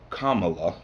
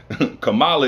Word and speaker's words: Kamala: He follows that up with choosing Kamala Harris as his, I'm sorry, Kamala. Let me pronounce it right. Kamala is the black way. Kamala is the proper pronunciation, which is the Indian way.